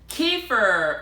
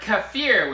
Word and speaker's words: kefir: Hello YouTube, this is Jan again with GeekyAsianDad coming to you today with Kefir or Kefir, whichever way you want to pronounce it.